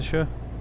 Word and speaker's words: Shure: I think it's a Shure. That's how you pronounce it, I think.